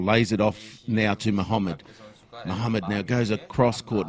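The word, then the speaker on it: Mahamid: at if I'm pronouncing it correctly the surname is spelled m a h a m i d yeah Muhammad yep that's fine Y and the number six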